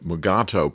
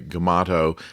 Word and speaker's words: Mugato: of the fact that deforest kelly who played mccoy could not pronounce the scripted name mugato properly and tended to say gemato and they went ahead